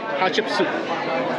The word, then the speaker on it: Hatshepsut: I think I got it. Hatshepsut. Hatshepsut. Hatshepsut. There you go. That's how you pronounce it.